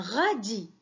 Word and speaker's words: radis: un rat dit un radis un radis un radis alors regardez bien la lettre s à la fin du moura dit elle est muette je ne la prenant ce pas deuxième syllabe alors c'est